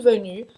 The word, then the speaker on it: venu: Então, je suis venu, venir, você vai usar o verbo être. Je suis venu, tu es venu. Tu es venu. De novo, o biquinho francês para pronunciar venu.